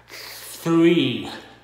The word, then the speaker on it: three: Thì bạn thấy nè, thì mình để cái lưỡi ở giữa hai cái hàm răng đó và mình thở ra three three three three, thì mình mới nói mình mới mới đọc cái chữ đó đúng.